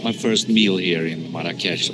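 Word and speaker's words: Marrakesh: first meal here in Marakesh or murakush as I think the natives pronounce it I wasn't planning on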